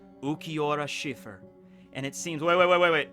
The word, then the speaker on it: Cifer: No, it's spelled with a C. Wait, what? Yeah, it's Cifer.